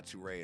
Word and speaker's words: Turae: and i'm gonna be hanging out with uh tworay tonight i'm sure he'll tell you that it